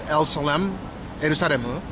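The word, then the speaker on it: エルサレム: So, in Japanese, the way that they pu uh pronounce uh Jerusalem is elsmaru.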